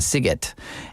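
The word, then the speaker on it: Sziget: well it's s zi g t and that's pronounced sigot and that Festival takes place in Budapest which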